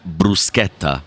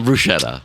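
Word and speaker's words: bruschetta: with the it's not brushetta sorry and it's poretta not it is it is pora not petta okay so the CH is a hard a k sound it's like C like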